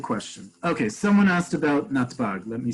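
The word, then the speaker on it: נתב״ג: Okay, so all together we pronounce it as one word, natbag.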